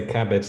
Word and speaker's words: CABG: how people pronounce that people say cabbage like the vegetable that's right that's right